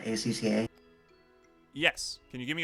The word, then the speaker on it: ACCA: what is ah i'm not sure how it's pronounced akka right acca yes can you give me a little bit more than that a number even a cup 13.